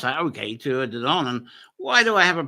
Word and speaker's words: Tuatha Dé Danann: See, I can pronounce that, okay, Tuatha Dé Danann.